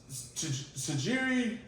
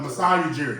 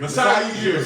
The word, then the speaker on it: Masai Ujiri: Sajiri, I'm saying it wrong. Ujiri or something? Yeah. it's Oh. Toronto. Masai Ujiri. Masai Ujiri.